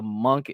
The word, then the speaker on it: Munk: did you get the Munk NFT? Like, I believe the Noshk pronunciation, the proper pronunciation is Munk or Munk, but I'll just call him Monk.